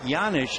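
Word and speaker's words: Janish: Scott pedik can explain why the J sounds like a why it's a Czechoslovakian name the one-1 pitch fouled away one and two the name is spelled j a n i h but it comes out yanish cednik has that extra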